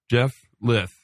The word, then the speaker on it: Jeff Lyth: And you cannot say that name without sounding like you have a lisp. Jeff Lyth.